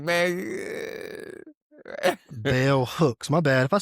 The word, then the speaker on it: bell hooks: Bellbrooks. Bell Brooks. Sorry, Bell Hooks. If I Oh, mispronounce okay.